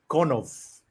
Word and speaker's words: Konov: If we butchered your name, apologies. From the interview with Nav, it seems like it's Konov.